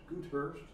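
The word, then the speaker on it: Goudhurst: that name Hurst good good Hurst g o u d yeah it's like the Dutch word for gold yeah but I'm sure it's pronounced differently good most likely so he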